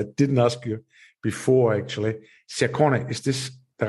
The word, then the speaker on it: Cercone: Cercone, is this the right pronunciation? It's actually Cercone, but I'm sure back in the old country it was Cercone.